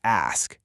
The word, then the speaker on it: ask: It's incredibly common to hear people say ask who's. Yeah, swapping those S and K sounds is a big no-no. You got to ensure the S sound comes strictly before the K to make it ask.